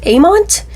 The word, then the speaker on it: AIMENT: believe it's called uh pronounced amont it's like a i m e n t i think that's the way it is um but of course